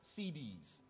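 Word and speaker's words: Siddis: Not like CD, it's spelled S-I-D-D-I-S, CDs.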